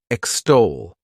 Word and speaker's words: extol: The next verb is extol. to extol. This word has two syllables and the stress is on that second syllable.